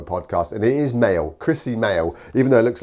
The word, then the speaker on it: Krissy Moehl: interviewed on a podcast and it is male Chrissy male even though it looks like moyelle Noel it's Chrissy mail I just like the variety in it there's